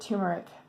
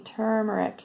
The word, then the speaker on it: turmeric: One thing about turmeric, and people pronounce it turmeric. I don't know why. I used to do that, but there's clearly an R there at the beginning, turmeric.